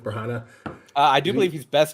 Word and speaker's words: Branagh: Is it Kenneth Branagh? Kenneth Bragna? Yeah. Kenneth Branagh.